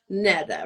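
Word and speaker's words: Nedda: Now, yeah, Netta, it's tricky because of the way it's spelled, but it's Netta, like N-E-D-D-A.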